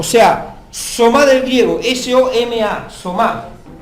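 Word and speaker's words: σῶμα: traduce del griego soma, o sea, somá, con acento en la A, y habla del cuerpo en un todo completo. Presentéis vuestros cuerpos, o sea, somá del griego, S-O-M-A, somá.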